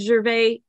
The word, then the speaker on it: Gervais: I've always said Gervais. Am I saying it correctly? It's perfect, Karen.